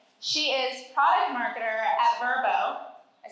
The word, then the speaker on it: Vrbo: She is product marketer at Verbo.